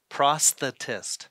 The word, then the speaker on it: prosthetist: So when I go to kindergarten classes, I usually try to, you know, take them through it by the syllable. So it's prosthetist.